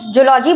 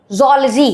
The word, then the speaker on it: zoology: Generally इसको लोग जूलॉजी बोल देते हैं, लेकिन इसका रियल प्रोनाउंसिएशन याद है नहीं कि करेक्ट प्रोनाउंसिएशन zoology है।